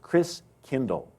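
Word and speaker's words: Christkindl: And the German pronunciation of Christ child was Chris Kindle.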